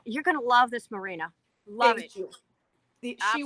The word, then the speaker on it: Marina: It is Marina, which rhymes with Lorena, Marina Astor.